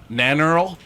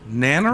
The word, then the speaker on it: Nannerl: She goes by Nannerl, so have fun with that. Nanner? Nannerl? Yeah, Nanner? Nannerl, Nannerl.